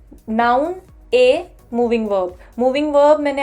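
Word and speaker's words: へ: लिखते हम हे हैं, आपको यहाँ पर दिख रहा होगा लिखा हुआ है हे, नाउन हे, पर इसकी जो प्रोनाउंसिएशन है वो ए है, ए।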